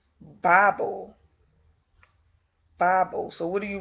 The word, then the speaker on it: Babel: Now, if you look up the word Babel and look at the phonetics of it, it's actually a short A, so it's actually pronounced Bible.